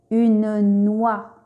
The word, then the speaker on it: noix: Et parfois, en fin de mot, X s'écrit mais ne se prononce pas. On dit que X est muet. Exemple, une noix.